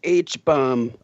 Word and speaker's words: H-Bomb: mispronounce the name yes you did it's properly pronounced h-bomb damn all right jonathan i can do